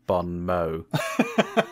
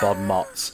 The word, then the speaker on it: bon mot: anecdote uh was that you very subtly uh let on that both uh james and i have been mispronouncing bon mo uh you've got a bomb probably fuming all the way that we've been calling it bob motz sorry i had like